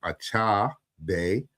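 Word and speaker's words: Achebe: I believe it's pronounced Achabe. The E makes the A sound.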